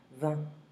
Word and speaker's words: vingt: We don't pronounce the G and the T. It's just a combination of different letters together that will give this un sound. 20.